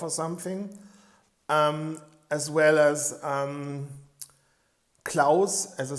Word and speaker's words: Claus: But when you say the name Klaus in German, it sounds more like on-off, because aus in German means off, a machine is off or something, as well as Klaus as a sounds also